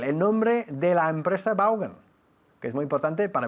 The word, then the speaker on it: Vaughan: You spell the word Vaughan, V-A-U-G-H-A-N. ¿Y cómo se pronuncia en realidad? No se dice Vaughan, aunque aquí sí. Se dice Vaughan. Vaughan? Vaughan, así.